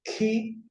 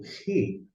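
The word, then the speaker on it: χ: Você pode pronunciar como ki ou ri.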